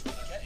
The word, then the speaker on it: Paquette: Yes, Paquette.